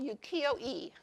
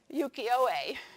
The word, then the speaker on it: ukiyo-e: And this whole area was called ukiyo-e. And you pronounced it, my Japanese language person here can say it in Japanese. Ukiyo-e.